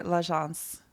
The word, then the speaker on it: L'Agence: This jacket by L'Agence. That's how you pronounce it, right? Yes.